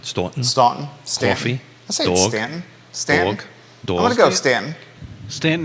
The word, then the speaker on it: Staunton: want to go Stanton Stanton is how most people pronounce it I say Stan so